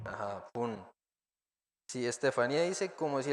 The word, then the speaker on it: 분: 분, Ajá, pun.